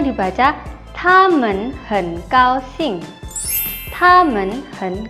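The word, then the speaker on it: 他们: T dibaca seperti huruf D, jadinya ta, ta. Selanjutnya ada MEN, men, tamen.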